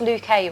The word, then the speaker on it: Luca: They're next to Luca and Lauren. You know it's pronounced Luke A, right? Sorry? It's pronounced Luke A. It's Luca and Luke's.